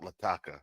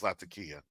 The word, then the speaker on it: Latakia: Paul said it wrong it's not lataka it's lakia reason I know is